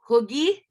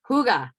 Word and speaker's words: hygge: lotion refill as well oh gosh hoogie am i saying it right that's right hygge okay so this is